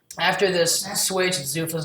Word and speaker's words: Zuffa: Zuffa's no longer in the picture anymore.